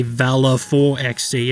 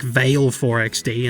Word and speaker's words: valeforXD: alone pronouncing it right i actively say valor for xc and everyone's like vail 4xd and i only make it more confusing by also going by vale and not val but it feels more